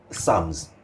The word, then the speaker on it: Psalms: Can you imagine all along I've been saying Sam's? And the company name is Sam's. So there is a difference between the two. So those who have a very good sense of pronunciation, they will always be very, very cautious about the pronunciation of the two words. Psalms. Yes. And it's the Psalms. The Bible Psalms, yes. And this is Sums.